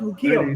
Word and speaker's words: Ukiah: little town in California uh yukia I think it's pronounced it's correctly pronounced ukia Wolves and the label